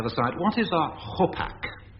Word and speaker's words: hopak: What is a hopak? Hopak, or gopak, if you like. And in which country would you expect to find it? Hopak. A gopak.